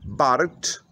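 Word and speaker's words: Barx: Mówimy o wielkim domu z 2400 metrów jeszcze dodatkowo terenu, z centralnym ogrzewaniem w górach, miejscowość Barcz. Pisze się Barks.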